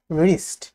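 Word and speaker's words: wrist: Silent ডাব্লিউটা হচ্ছে আর এর আগে এবং কিছু ওয়ার্ডের শুরুতে, যেমন রাইট, রিঙ্কল, রিস্ট। সাইলেন্ট অক্ষর শেখা কিছুটা ট্রিকি, কিন্তু প্র্যাকটিসের মাধ্যমে আয়ত্তে আনা সম্ভব।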